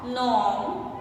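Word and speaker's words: gnome: बनान, ये जी साइलेंट है सभी के। नेश, नेट, नॉ, नॉम, साइन, डिजाइन, बनान।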